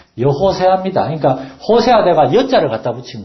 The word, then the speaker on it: 여호수아: 그런데 여호수아라는 말은 여호수아가 아니라 정확한 히브리어 발음은 여호세아입니다.